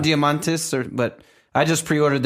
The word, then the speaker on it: Diamandis: How do you pronounce the last name? Diamantis or But I just pre-ordered that book this morning. Diamandis.